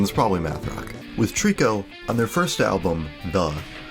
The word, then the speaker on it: Tricot: collaboration that is perfume so Trico I only learned that they weren't pronounced as trika video our chords that